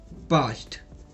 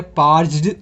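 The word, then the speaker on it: parched: भी थोड़ा प्रोनंसिएशन देखिएगा इसको बोलते हैं पास्ट ठीक है ये दो पी ए आर सी एच ई डी होता है पर्जड लग रहा है बोलने में ऐसा बोलते होंगे बट इसम आर जो है वो काइंड ऑफ साइलेंट है तो पास्ट बोलते है ठीक है सो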